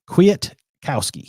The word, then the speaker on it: Kwiatkoski: trying to say it correctly Qui Qui quit Kwiatkowski it's gonna be a fun one there's always